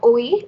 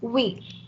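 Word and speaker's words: oui: moa means excuse me we means s it's not uh oe it's we and non means no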